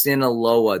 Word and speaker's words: Sinaloa: Ernie, it's pronounced Sinaloa. There's an I in there.